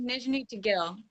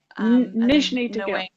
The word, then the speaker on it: Nizhny Tagil: It's pronounced Nizhny Tagil. Nizhny Tagil.